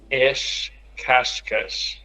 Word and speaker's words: as cascas: And if you it in the plural, if you put it in the plural, then all of them have an S at the end of syllables. So they're all sh's.